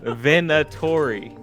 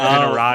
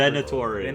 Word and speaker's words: Venatori: I spelled it Oh, Venerati. that's right. So like I'm like glancing over. Venatori. Venerati. Venatori.